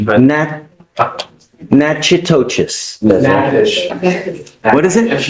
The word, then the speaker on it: Natchitoches: You're wanted out of, Louisiana, Natchitoches Parish. I butchered the pronunciation, but. Natchitoches. Natchitoches. What is it? Natchitoches.